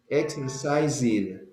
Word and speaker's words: exercised: Cuando tienen una S en medio de dos vocales, siempre se pronuncia como una Z con vibración.